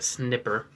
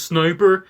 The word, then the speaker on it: sniper: kind of like a snipper and then right here we have o to j4 it's pronounced sniper shush then right here